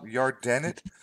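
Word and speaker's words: Yardenit: this place in Israel called your den it is that how it pronounced yard Dennett this I know yeah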